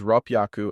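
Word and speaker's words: 六百: becomes by 600 is rap yaku and 800 is hapiaku these use double consonants to change h y to ppy so 342 is pronounced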